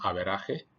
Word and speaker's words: average: Escrita como el inglés average, pero pronunciada como averaje, esta palabra es un anglicismo, pues viene del inglés.